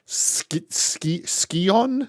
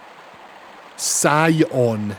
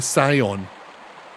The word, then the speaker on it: Scion: There's there skion. Scion. How would you pronounce that? Sion. Yeah. Okay. The scion.